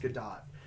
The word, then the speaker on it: Gadot: or gallica dot sorry I always try and say Godot but it's actually pronounced good dot gal gadot is I